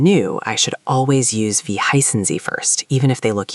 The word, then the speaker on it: Wie heißen Sie: Now, to ask what's your name formally, you would say, Wie heißen Sie? Can you try that, Devendra? Pay attention to the Z at the end. Wie heißen Sie?